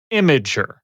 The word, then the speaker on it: Imgur: The consensus I'm gathering from the internet as I'm doing a little research is that the company pronounces it Imager.